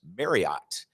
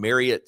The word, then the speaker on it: Marriott: I, for my entire life, have pronounced the hotel chain as Marriott. And we come and we play in Provo in the outstanding Marriott Center, and you pronounce it Marriott, and it seems like everybody out there, Provo,